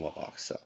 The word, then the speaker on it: Wubbox: Actually, no, I pronounce them Wubbox.